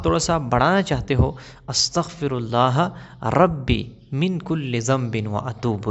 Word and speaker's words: استغفر اللہ: ہوتی۔ دیکھو، بہت سے لوگ کہتے ہیں استغفار استغفار استغفار، ٹھیک ہے نا، یہ بھی کوئی تسبیح نہیں ہے۔ استغفار استغفار استغفار، بہت سے لوگ اس طرح کہتے ہیں۔ صحیح تسبیح کیسے ہے، صحیح تلفظ کیسے ہے؟ استغفر اللہ، استغفر اللہ، میں اللہ سے معافی